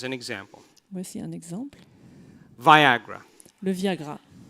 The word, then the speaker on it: Viagra: Viagra. Le Viagra. It rhymes with Niagara.